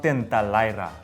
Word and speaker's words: tentalaria: Tenta lyra? That's actually pretty good. Okay. It's called tintalaira.